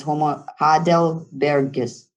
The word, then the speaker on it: Homo heidelbergensis: I'm not going to be able to pronounce them. Don't laugh at me. But it's Homo heidelbergensis.